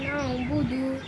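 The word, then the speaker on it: نعبد: বা পেশ বু, দাল পেশ দু, ইয়্যাকা না'বুদু, ইয়্যাকা না'বুদু, ইয়্যাকা না'বুদু। ওখানে আইন আছে, এজন্য বলতে হবে ইয়্যাকা না'বুদু।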